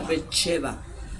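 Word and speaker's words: בת־שבע: En hebreo se pronuncia Betsheba.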